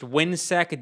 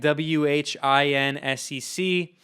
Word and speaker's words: WHINSEC: It has a really long name, which is the Western Hemisphere Institute, something to that effect, and it's pronounced WHINSEC, WHINSEC, and they're the same thing.